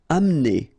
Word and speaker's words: amener: Amener. Don't insist on the E here because you don't really pronounce it.